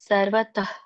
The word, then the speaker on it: ಸರ್ವತಃ: ಹೇಳ್ತೀನಿ ನೋಡಿ ಯಾವನರ್ಥ ಉದಾಪಾನೇ ಸರ್ವತಃ ಅಲ್ಲಿ ಸರ್ವ ವಕ್ಕೆ ಅರ್ಕಾವಳಿ ಇರೋದ್ರಿಂದ ರ ಮೊದಲು ಉಚ್ಚಾರಣೆ ಮಾಡಬೇಕು ಸರ್ವತ ಕ್ಕೆ ವಿಸರ್ಗ ಇರೋದ್ರಿಂದ ಪೂರ್ಣ ರೀತಿಯಾಗಿ ಉಚ್ಚಾರಣೆ ಮಾಡಬಾರದು ಮಧ್ಯದಲ್ಲಿದೆ ಹಾಗಾಗಿ ಅಲ್ಪ ಪ್ರಮಾಣದಲ್ಲಿ ವಿಸರ್ಗ ಹೇಳಬೇಕು ಸರ್ವತಃ ಸಂಪ್ಲು ಪಕ್ಕೆ ಲವತ್ತಿದೆ